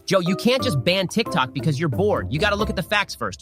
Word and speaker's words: TikTok: wrong Ben okay firstly it's pronounced tick tock not Tic Tac sound the same to